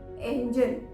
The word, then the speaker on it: engine: इंजन नहीं, एंजन, एंजन। इंजन Hindi में बोलते हैं, इंग्लिश में हम इसे एंजन प्रोनाउंस करेंगे।